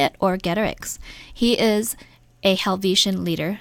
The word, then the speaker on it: Orgetorix: The first name is Orgetorix. Orgetorix, like a Roman name, does it? By the way, you should make sure you know how to say it, Orgetorix.